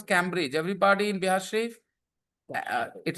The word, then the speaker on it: Cambridge: Yeah, we don't pronounce Cambridge. Everybody in Bihar Sharif, it is not Cambridge.